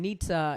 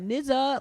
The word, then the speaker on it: Nizza: few blocks away and nietzsche is spelled nizza so like white dudes would come up and be like man we love the food here at nizza like but it was like it's nietzsche it's supposed to be like the